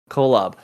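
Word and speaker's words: Kolob: uh with a little how do you say it again the planet colab is it yeah k-o-l-o-b colab i'm talking about christianity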